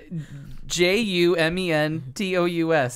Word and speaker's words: Jumentous: J U M E N T O U S. It's such a simple word, and it says so much. Just like it's spelled.